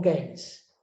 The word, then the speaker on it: Keynes: de yenes y bueno vamos con games así lo pronuncian los británicos john maynard keys fue